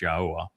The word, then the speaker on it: Yahua: And uh uh the answer on number uh five there is you got his name wrong. It's Yahua.